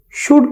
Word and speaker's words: should: Dear students, आज हम English language में लेक्चर नंबर 40 में शुड का इस्तेमाल करना सीखेंगे। तो शुड में एल साइलेंट है, इसको हम इस तरह लिखेंगे SHUD शुड, और इसको हम इसी तरह पढ़ेंगे।